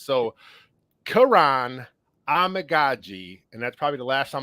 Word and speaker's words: Kiran Amegadjie: good with the with with with names so Karan amaji that's probably the last I'm going to say